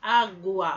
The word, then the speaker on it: água: Por exemplo, água, ó, a gente não diz H, a gente diz água, a gente escuta o U e o A, ó.